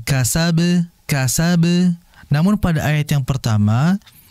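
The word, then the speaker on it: كسب: Wa ma kasab, itu enggak ada tasydid. Walaupun kondisi dia sukun, karena enggak ada tasydid langsung dipantulkan kasab.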